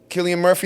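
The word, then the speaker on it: Cillian Murphy: Let's say it was it Killian Murphy, that's how you pronounce his name.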